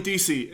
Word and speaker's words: Deasy: DC welcome to the show all right Kelly DC am i pronouncing oh yes you're actually the first person